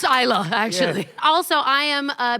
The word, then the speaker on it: Islay: Is now a good time to say that I'm Canadian and NOT and it's pronounced Isa actually.